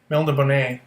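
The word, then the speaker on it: Melniboné: I think in the books it's Melnibone, but because it's got the accent on the E, which I'm not going to include here, so we'll just call him Melnibone.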